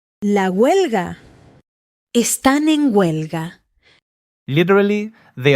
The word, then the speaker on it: huelga: Your turn, and mine the silent H. Huelga starts with a W sound. Huelga. Están en huelga. That silent H is everywhere, by the way. Hola, hoy, huelga. Spanish writes the H and then completely ignores it.